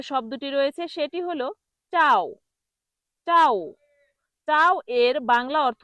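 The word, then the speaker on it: ciao: যখন এটাকে মানুষ ভুল উচ্চারণ করে এই চাওকে তখন বলে চিয়াও। চিয়াও এটা ভুল উচ্চারণ। চিয়াও ভুল উচ্চারণ। সঠিক উচ্চারণ হল চাও।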